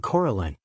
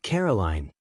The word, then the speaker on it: Coraline: They kept saying Coraline. Not Caroline. Not Caroline at all.